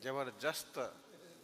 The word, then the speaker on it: जबरदस्त: जस्त कुछ नहीं होता है, दस्त होता है। सही उच्चारण दस्त है, जस्त ही नहीं। जबरदस्त, दस्त नहीं बोलने का।